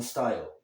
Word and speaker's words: style: Ele fala styl, não style. Ah, de novo, verbo terminado em e. O E não é pronunciado, então a pronúncia termina no L.